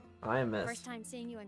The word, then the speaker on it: Imeth: Oh, she pronounces it Iamith. I was calling her Amieth. Iamith.